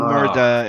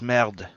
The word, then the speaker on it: merde: It's not murder. It's merde. It ends with an E. Merde. Yeah, merde is he pronounced it like a French person, which I couldn't do. Yeah. But if you have somebody who is like, say, Italian or Portuguese pronouncing it, it will come out merda, because they will throw that extra on there.